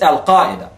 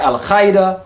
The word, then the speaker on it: Al-Qaeda: It's Al-Qaeda, not Al-Qaeda or Al-Qaeda.